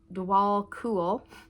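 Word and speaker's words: Djwhal Khul: Dwal Koul, pronounced Dwal Cool, also known as the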